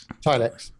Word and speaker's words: Tilix: of all, are we going to call this Tilix or TileX? TileX. Okay, so I don't know. Let's consult how to pronounce to figure that out.